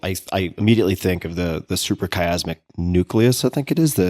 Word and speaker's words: suprachiasmatic nucleus: Yeah, suprachiasmatic nucleus.